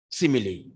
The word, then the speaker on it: simile: Or as a tiger, he is running, simile. Simile spelling S-I-M-I-L-E. I could see many students were writing S-I-M-I-L-Y.